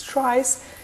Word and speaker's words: tries: that would be quite confusing so they are pronounced as trice and these are my tree structures which actually